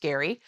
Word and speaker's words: Gerry: That's Gerry, but pronounced Gary.